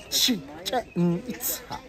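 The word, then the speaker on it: Chichen Itza: At the end, we pronounce like ha. Ha means water. Chichen-Itza.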